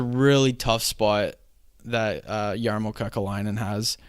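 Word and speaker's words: Kekäläinen: It's a really tough spot that Jarmo Kekalainen has right now. Jarmo who? Kekalainen.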